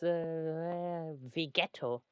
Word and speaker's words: Vegeto: See, Gogeta and the Ghetto is Vegeto. That's how he's written and pronounced in German.